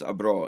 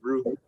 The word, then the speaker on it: Abreu: So I assumed it was Abro. Is that how you read it, or Well, I how was do you pronounced read it Abru. I was pronounced Aber? it Abru.